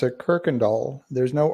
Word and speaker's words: Kuykendahl: local you pronounce a Kirkendall there's no r in it but uh just pretend there is and you'll sound like a local so it's called Kirkendall that's the name of